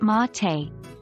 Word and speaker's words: mate: their day with a traditional drink called mate pronounced mate it's a type of infusion made with dried